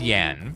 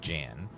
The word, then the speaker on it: Jan: Uh it's pronounced Yan, but it doesn't work for my jokes if I say J unless I say Jan cuz Yanitor doesn't work.